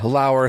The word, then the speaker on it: Lauer: Ryan Lauer, spelled like lower, from the amazing Batman Book Club.